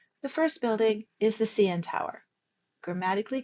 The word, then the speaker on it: CN Tower: Please be careful with CN. We stress both letters. We don't say CN Tower. We say CN Tower.